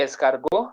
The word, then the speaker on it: escargot: Then we say escargot, T silent.